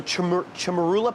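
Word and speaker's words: chermoula: We rub it with the chamurla paste, turmeric, cilantro. So these are all, so chamarula paste, is that how you say it?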